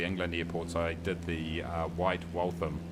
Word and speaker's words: White Waltham: airports i did the white waltham is how you pronounce it thank you in the comments uh not not walter white not white walter white but uh white waltham largest uk uh